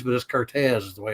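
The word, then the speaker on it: Curtiz: warner brothers michael cortez it looks like it's curtis but this cortez is the way it's pronounced but some of the pictures and i'm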